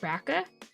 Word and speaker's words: BRCA: It's pronounced BRCA, apparently, BRCA, but people call it BRCA.